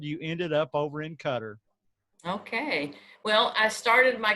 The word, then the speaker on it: Qatar: know a lot of people in our country mispronounced that guitar it's really pronounced Qatar she's been there for several years but she's